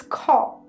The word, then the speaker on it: খ: the next letter is co it is representing the voiceless aspirated Val plf sound the pronunciation is similar to the Kaa in Khalifa in English like do Co has